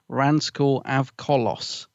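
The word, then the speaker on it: Ranskoor Av Kolos: title what is this the Battle of rans AV colos is how you say it that's the one yeah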